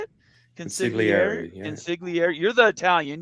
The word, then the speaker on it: consigliere: This is the premiere episode of the Consiglieres on, is that how you say it? Consigliere.